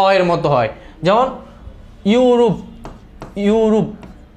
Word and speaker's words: ইউরোপ: এর মত হয় যেমন ইউরোপ ইউরুপ এটা আমরা ইউরুপ বলি এটার আনসারটা হবে হচ্ছে